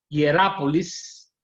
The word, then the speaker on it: Hierápolis: Las tres ciudades que existían en esa zona de este lugar que ya les dije eran Hierápolis, se la voy a deletrear, H, I, latina,